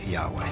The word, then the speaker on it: Yahweh: and his name was these four letters which in English would be yhw H which we think were probably pronounced something like Yahweh the religion began as